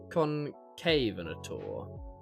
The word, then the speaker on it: Concavenator: By the way, the actual pronunciation is concavenator.